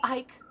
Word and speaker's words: Ike: Silent E at the end sounds most natural to me.